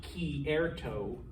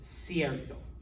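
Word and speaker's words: cierto: you a spanish word siesta means true all right that's not ki erto that's sierto okay c is before a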